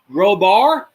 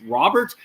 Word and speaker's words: Robert: I believe it's pronounced Robar because he's Hispanic, but a lot of people keep saying Luis Roberts. I could be wrong about that.